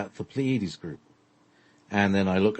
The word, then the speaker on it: Pleiades: He emphasizes the Pleiades, the third syllable.